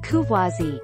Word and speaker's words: Courvoisier: Courvoisier, French pronunciation, Courvoisier, is a brand of cognac owned by Beam Suntory, a subsidiary of Suntory Holdings of Osaka, Japan.